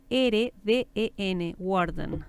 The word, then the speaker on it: Warden: Y bueno, por si acaso su apellido se deletrea W-A-R-D-E-N, Worden, ¿no? así se pronuncia, pero ese es...